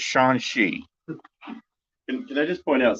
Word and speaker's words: Shang-Chi: Man, I always get that name wrong. It's Shang-Chi.